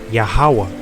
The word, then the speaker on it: YAHAWAH: This is YAHAWAH. That's how you would pronounce it.